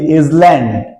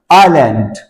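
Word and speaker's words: island: ইজল্যান্ড। ইজল্যান্ড। আমরা তো অনেকেই বলি ইজল্যান্ড। আসলে এর উচ্চারণ ইজল্যান্ড নয়। আইল্যান্ড। আইল্যান্ড। এখানে এস সাইলেন্ট থাকবে।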